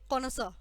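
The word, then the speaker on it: connoisseur: Pronunciation क्या है इसकी? कॉनोसर।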